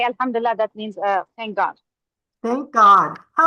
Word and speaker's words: Alhamdulillah: It means yeah, it means Alhamdulillah, and it's Alhamdulillah. We say Alhamdulillah.